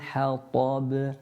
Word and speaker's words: حطب: Hammalatal hatab. Hata. Ta, pronounced with the tongue touching the gums just above the central incisor at the top.